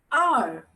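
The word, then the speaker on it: 二: Second, R. Everyone, R. Now, if you remember, yesterday I told you while saying R, you have to roll your tongue.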